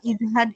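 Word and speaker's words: ازهد: Ustaz Afwan mau tanya yang izhad itu dalnya sukun atau fathah? E sukun. Afwan ya. Iya, afwan. Ahsan ya. Sukun ya. Jazakillah khair dini ya. Ya, tadi sukun ya, Afan tadi sukun ya. Izhad.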